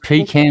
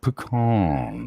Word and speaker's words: pecan: Both versions are acceptable, pecan or pecan. It's usually like really southern people who say pecan.